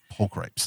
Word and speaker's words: pulchripes: I always mispronounce that one. It's pulchripes.